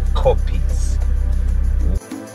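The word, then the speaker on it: kopjes: j double e s copious but you can pronounce it in English like copies we've arrived at the border of the Serengeti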